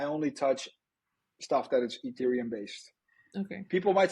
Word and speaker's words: Ethereum: and you talked about ethereum did I say it correctly yes ethereum now um are there